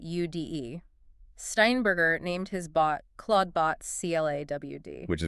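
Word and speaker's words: Clawdbot: Steinberger named his bot Claudebot CL A WD, which is pronounced exactly the same.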